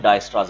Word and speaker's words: Dijkstra: इसमें के जो होता है वो साइलेंट होता है, वी कॉल इट डायस्ट्रास एल्गोरिथम।